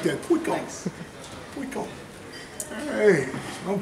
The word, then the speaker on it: puiku: Puiku. What? Puiku. Puiku? Puiku. Puiku. I like that. Puiku. I got to do my hands like that. Puiku.